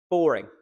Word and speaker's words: boring: Boring. Boring. It's the first syllable. Boring. Not boring.